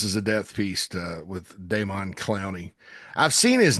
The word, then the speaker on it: Demon: Some people say it's But it's De M O N Clowny. Uh, and I I saw in a media guide, I think it was from Miss Don. So Don, but it's it's spelled Demon. So, Don Clowny, uh, and you know, good day.